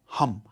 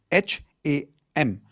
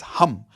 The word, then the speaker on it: Ham: The fifth chakra is your throat chakra which is sound of hum. H a m. It's not ham. Okay? It's hum like how you would say hu m.